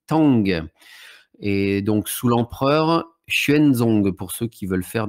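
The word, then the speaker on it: Xuanzong: faire des recherches donc c'est l'empereur schuenzong alors ça s'écrit en je vous le prononce en pignine mais ça s'écrit x u a n Z o NG donc cet empereur a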